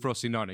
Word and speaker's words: Frosinone: He is with Frosinone. You had it right. Okay. With the pronunciation.